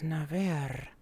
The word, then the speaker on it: Naver: He never rolls his R's. It is Naver.